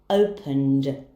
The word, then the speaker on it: opened: the Ed ending and the Ed ending will be pronounced as de for example opened loved very easy isn't